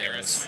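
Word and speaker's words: Harrah's: Harris.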